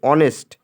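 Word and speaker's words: honest: তাহলে এখান থেকে বুঝতেছি যে অনেস্ট, হেয়ার, এই হেয়ার আছে কিন্তু আয়ার হবে এখানে উচ্চারণ করতে, ঠিক আছে?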